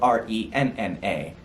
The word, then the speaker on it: Renna: i wrote it wrong i spelled it r-e-e-n-a it's spelled r-e-n-n-a kathy renna is the activist i was referring